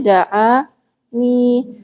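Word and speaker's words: دعان: Aslinya da'ani, berdoa, meminta, memohon kepadaku gitu ya. Aslinya seperti itu. Tapi ada hadzaf, jadi dipendekkan bacanya. Da'ani.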